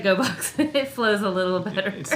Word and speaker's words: Gogh: Probably like pronounced like box if we were doing it the Dutch pronunciation. But we like GoBox.